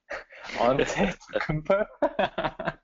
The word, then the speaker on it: Antetokounmpo: Well, how do you pronounce that name? Antetokounmpo.